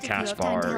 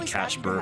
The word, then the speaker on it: Caspar: I have a I will never pronounce it Caspar. It will always be Casper for me.